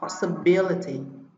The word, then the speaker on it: possibility: Riêng phương án B, C và D trọng âm sẽ rơi vào âm tiết thứ ba: multimedia, curiosity và possibility.